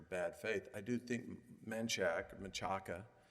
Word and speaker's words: Menchaca: faith, I do think Menchaca whichever way you wish to pronounce it. Those who lived in Austin might call it Manchac, and those who haven't